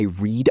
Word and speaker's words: read: Tricky one. Spelled the same, but past tense sounds like red. Right. Today, I read a blog. Yesterday, I read a novel. Same spelling, different sound.